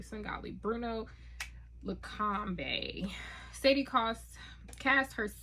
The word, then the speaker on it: Svengali: And I pronounced it correctly. Svengali.